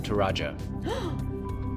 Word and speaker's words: Toraja: In the region of Toraja. Yo, I was pronouncing it correctly!